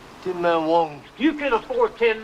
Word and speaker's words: Tienma: The correct pronunciation is Tienma. See how it ended up Tin Man.